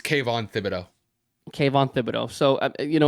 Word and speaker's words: Thibodeau: And I'm like, it's Kavon is it Thibodeau, like Tom Thibodeau, but spelled differently? Yep. Okay, so it is Yeah, Thibodeau. I think it's Kayvon Thibodeau.